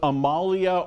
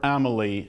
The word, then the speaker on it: Amalie: city of Charlotte Amalie whether you pronounce it Amalia or Emily it's a quaint old